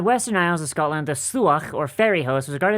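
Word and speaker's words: Sluagh: Okay, it's just pronounced SLAUGH. Oh, that's pronounced the same as the place I was born.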